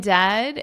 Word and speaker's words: dead: And dead, it said like bed, not bead.